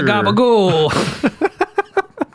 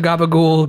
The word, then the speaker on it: gabagool: Take me to a gabagool, gaba school, bro. Show me the way. The pronunciation of gabagool, a mutation of the word capicola, might surprise.